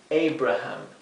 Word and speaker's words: Abraham: es Anthony Anthony Sí aquí es e Abraham Así que fíjense esta primera a suena e esta segunda y tercera a suena a bien Abraham vamos a